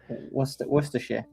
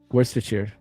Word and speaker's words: Worcestershire: How do you pronounce it? Worcestershire. Worcestershire.